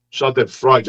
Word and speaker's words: Schadenfreude: Schadenfreude, a pronúncia.